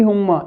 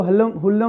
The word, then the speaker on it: Hulme: हुम्मा, इसमें एल जो है ये साइलेंट है, इसको हुल्लम नहीं होम्मा. तो इसका प्रोनाउंसिएशन जो है टी.ई. हुम्मा ये है और ये ब्रिटिश पोइट है.